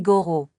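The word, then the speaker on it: gorro: rojo dito ce qui veut dire il porte un bonnet rouge est le mot pour bon casquette la prononciation est gor le doit être roulé et c'est souvent difficile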